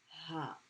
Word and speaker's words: ه: Okay, so this is the letter Ha. And it makes the H sound that is in your chest.